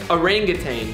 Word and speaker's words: orangutan: at it okay okay so how do you pronounce that word orenjiten close captioning not available you got it right but it's orangutan mama rug is in the lead two to